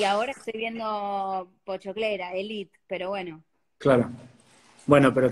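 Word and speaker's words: Élite: los actores, me dijeron, no se dice Elite, se dice Elite. Elite. Yo pensé, digo, claro, tienen razón, porque tiene el acento en la primera E, y es verdad, pero nos suena raro.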